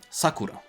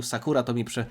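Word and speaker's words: サクラ: pory lubię ją, czyli Sakura. Wydaje mi się, że tutaj akcent na pierwszą sylabę powinienem kłaść, ale jeśli będę mówił Sakura, to mi wybaczcie.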